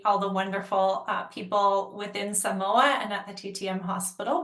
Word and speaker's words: Samoa: Yes, Samoa, not Samoa. I didn't know that before, how to pronounce it.